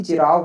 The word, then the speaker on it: Cheraw: English में spelling आती है इसकी चिराव करके बोलते हैं, CHERAW।